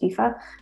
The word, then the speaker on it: Aoife: at ifa underscore ifa so for anyone that was like wondering why there's so many vowels in my name and it's pronounced fifa this efa spelling is probably easier to get your head around and yeah that's me